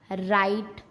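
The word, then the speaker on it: write: Rule number 2, अगर आर से पहले डब्लू आता है तब भी डब्लू को चुप ही रहना पड़ता है, तब भी डब्लू नहीं बोल सकता, वो भी शांत रहेगा। जैसे रॉन्ग, राइट, रैप।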